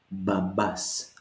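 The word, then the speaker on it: μπαμπάς: Mi, pi forms the B sound. This one is B. So it goes babas this time.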